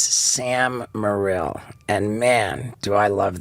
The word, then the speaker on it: Morril: Morril. No one ever gets it right, and I don't like to correct people. What did they say, moral? Moral, yeah. Moral of the phonetically story? it looks moral, but it's not, you know.